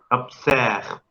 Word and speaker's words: observe: ¿Por qué la E se pronuncia observe? Abierta y acentuada.